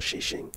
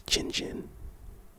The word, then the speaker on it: chin chin: No, it's not shishing, it's chin chin.